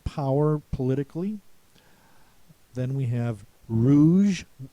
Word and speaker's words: rouge: politically then we have Rouge with a G and a silent E Rouge is the color